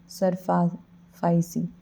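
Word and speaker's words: SARFAESI: फिर ये आ जाता है SAR FAE SI, इसको क्या बोलते हैं, सरफाइसी प्रोनाउंस देख लीजिए, बट इसका फुल फॉर्म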